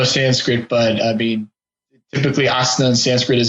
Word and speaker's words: asana: Is it Anna, like you pronounce it, or is it asana, like from Sanskrit? It is ASANA.